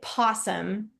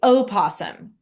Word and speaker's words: opossum: so some people say possum some people say osum both are correct it's like tomato tomato so oasum is how I'm going to pronounce it in this But same thing as a possum.